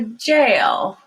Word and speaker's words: jail: to an american accent you want to go to yale or a jail i want to be